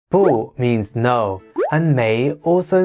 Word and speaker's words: 不: this one let's start so boo has two pronunciations boo and who and above being know they change depending on the word that they are incorporated with but we'll cover pronunciation